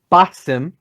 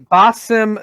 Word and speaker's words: Basim: You may have to help me pronunciation here, but I believe it's Basim Ishak? Basim. Thank you. Basim.